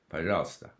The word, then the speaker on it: пожалуйста: points out that actually the unaccentuated syllables with O are pronounced A, пожалуйста.